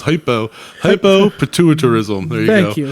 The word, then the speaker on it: hypopituitarism: rare hormonal disease called hypnopituitarism. I probably mispronounced that. It gives her the appearance of a 9-year-old child. And with hypnopituitarism... So hypno, it's hypopituitarism.